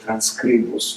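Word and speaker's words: Transkribus: Uh in any case, we settled on uh the artificial intelligence which is called transcribus which you um uh it's sort of a Germanic pronunciation because that place was developed uh in uh in Austria.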